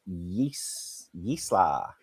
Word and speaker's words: Jaissle: New manager name is pronounced Jaissle. Oh, Jaissle. Okay, Jaissle. Assuming I'm saying it right.